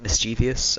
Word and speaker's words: mischievous: Did Did anyone else grow up pronouncing it mischievous? I think I learned that in elementary school, but then it's actually pronounced mischievous. There is no additional I in there.